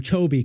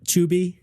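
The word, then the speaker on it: Chovy: a bunch you've clarified the right way to pronounce his name chobby correct not chuby chobby chobby and that's my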